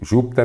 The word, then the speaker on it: Júpiter: ela é proparoxítona perfeito Júpiter ter uma proparoxítona trissílaba então a três está